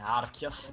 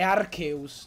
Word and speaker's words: Arceus: porco Sì però AR Arceus non si può sentire archias Perdon No è Archeus la pronuncia porco porco Archeus Dillo